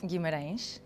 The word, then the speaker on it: Guimarães: In this episode, a DJ and producer from Portugal, Guimarães, right? Guimarães. Is the right pronunciation?